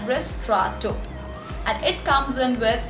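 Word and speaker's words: ristretto: chocolates another coffee is ristrato now ristrato is the spelling of this particular coffee but the correct pronunciation of this particular coffee is ris trotto it's pronounced as wrist straw two and it comes in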